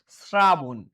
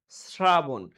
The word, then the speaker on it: শ্রাবণ: পরিবর্তে দিতে হয় দন্তস ঠিক আছে যেমন দেখো স্রাবণ স্রাবণ এই টাইপের উচ্চারণ হলে তোমাদের এরকম দিতে হবে যেমন হিংস্র